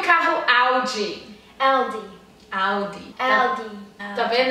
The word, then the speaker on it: Audi: Eu sou muito chata com esse D e o T, porque é o que faz muita diferença na pronúncia dos brasileiros, tá?